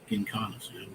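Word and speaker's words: Giancana: How do you pronounce his Gincana. last name? Gincana.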